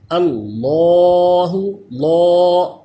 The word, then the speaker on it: اللہ: اللہ، لا، ایسے پر کر کے پڑھیں گے اللہ۔ اس کے ہجے کرنے ہو تو کیسے کریں گے؟